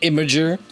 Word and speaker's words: Imgur: Imgur. It's pronounced Imager. No, it's not. The creators of it said Imager.